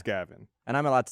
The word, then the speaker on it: Gavin: So it's vag spelled but said backwards because the G sound is different. Yeah. Yeah, but because it's a like a soft G instead of a hard G. It's not Javin. It's Gavin.